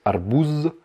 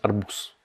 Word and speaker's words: арбуз: Donc là encore, à la fin, ça se termine par un Z. Donc on pourrait croire que ça se prononce arbouz, mais non, ça se prononce arbous. Donc comme si c'était un S, arbous.